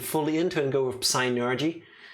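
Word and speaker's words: Psynergy: into and go with synergy like suddenly we have kind of like a like a southern tang like psy energy penis but for p is silent enos yes but yeah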